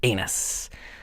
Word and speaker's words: INUS: And then another one is the Institute for Navigating the Universal Self, otherwise known as INUS, sometimes pronounced as anus.